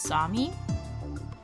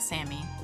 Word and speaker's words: Sami: I think it's Sami because when in the tweet that they put up with pronunciation guides, they wrote it like this. I'm pretty sure it's Sami. Which, I forget which culture that's from. Pretty sure it's not Sammy.